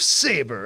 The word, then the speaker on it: Sabre: Also, they realize it's actually called Saber, even though they spell it Sabre.